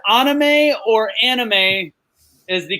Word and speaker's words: anime: So is it pronounced anime or anime is the correct?